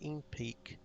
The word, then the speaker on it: NPEC: abandoned in favor of NPEC, with English speakers pronouncing the word as INPEAK.